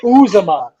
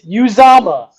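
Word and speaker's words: Uzoma: name it's not uzuma i literally sent the video it's uzama and you're still saying uzuma that's ridiculous two two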